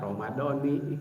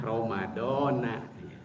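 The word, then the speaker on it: رمضانَ: dalam posisi majrur dijarkan, tapi dibacanya tidak Ramadhani ya. Dibacanya Ramadona. Mengapa? Karena ini termasuk isim ghair munsharif. Itu salah satu isim, kata benda yang tidak menerima tanwin ya. Maka dia dibacanya dalam posisi majrur pun yaitu dengan fathah.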